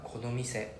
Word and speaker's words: この店: Pronounce after me, konomise. この店。 Konomise. この店。 I think just now it sounded a bit too flat. Like konomise. Like it sounded like some robotic voice.